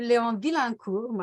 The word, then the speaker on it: Vilaincour: I will introduce both the people you can see here highlighted for convenience, a tribute to Leon Vilaincour, I have to pronounce it the French way, but we'll hear more about the name changes and the implications of that later on.